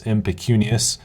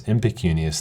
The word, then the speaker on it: impecunious: to our first word our first word is impecunious it is spelled I am PE see u ni owe us that's impecunious that's I am PE Cu and IOUs impecunious